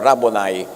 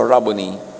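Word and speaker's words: Rabboni: Yung mga Amerikano sasabi nila, "Rabonai." Pero that's an Americanized pronunciation. A Hebrew word walang long eye. So rabony.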